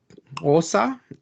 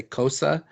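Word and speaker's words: Xhosa: Osa, or like most people who can't speak it would say Kosa, but like in some,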